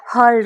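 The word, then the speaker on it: hurl: The next word is throw, और इसके लिए हम एडवांस इंग्लिश में यूज करेंगे वर्ड हर्ल का। किसका, हर्ल। यहाँ पे आर हम साइलेंट रखेंगे।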